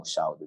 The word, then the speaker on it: SHALdo: So just the gifts and purposes you have upon my life, tell me to go, tell me what to do, I shall do. Hence I spell it SHAL in caps, DO lowercase.